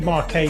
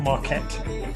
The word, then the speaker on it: Marquet: david marquet by the way everyone it's david marquet not marquette we pronounced it totally wrong in the uk and